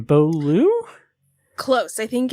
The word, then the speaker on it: Beaulieu: when teenage Priscilla, I can't remember how to pronounce her name, Beaulieu? Close. I think it's Beaulieu. Beaulieu.